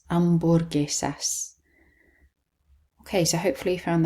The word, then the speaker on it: hamburguesas: And then the H is silent, hamburguesas.